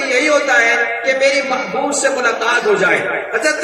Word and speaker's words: محبوب: دفعہ گلے ملتے ہیں۔ یہ محبوب کا لفظ بھی ایسا ہی لفظ ہے کہ جب اس کا تلفظ کیا جائے یعنی زبان سے اسے بولا جاتا ہے تو 3 دفعہ دونوں ہونٹ آپس میں گلے ملتے ہیں۔ جب محبوب کا